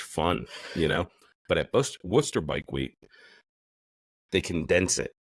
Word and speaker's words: Worcester: If you're typing it into Google Maps or whatever to get down there, it's spelled like the sauce, but it's pronounced like Worcester. Worcester.